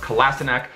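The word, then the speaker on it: Kolašinac: Now, really quickly, I want to touch on Kolasinac, who I believe that's how you say it. Someone corrected me in the comment section of the video. I think it's pronounced Kolasinac.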